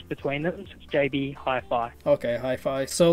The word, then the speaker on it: Hi-Fi: jb halfway yeah high fire how are you pronounces it with a w wi-fi or jb and then so it's got the dashes between them jb hi-fi okay hi-fi so like uh j so jb and then